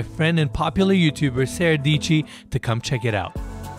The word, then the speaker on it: Dietschy: and popular YouTuber, Sara Dietschy, to come check it out. Hello everyone, my name is Sara Dietschy, rhymes with peachy.